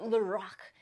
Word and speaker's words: Lorac: you think you know you heard from someone else that Lorac is a French name no it's Carol backwards was that a turning